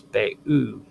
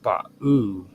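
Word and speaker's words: Bao: In Chinese naming traditions, a similar name pronounced as Ba'u, B-A-O, or Ba'u, B-A-U, can mean abalone, among other meanings.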